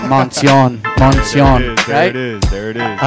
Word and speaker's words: Moncion: My name is Moncion, man. We out here right now. Let's do it. Hey, see, I told you, I think I said it right in the intro. I said Moncion, there it is.